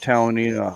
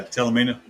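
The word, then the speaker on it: Talimena: We rode that Talanina highway. I don't know if that's how you pronounce it or not, Jay. Yeah, Talamina.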